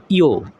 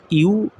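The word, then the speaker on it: ゆ: ইও ইও না ইউ। এটার ইংরেজিটা হবে ওয়াই ইউ। এটা ইউ। উচ্চারণটা হবে ইউ।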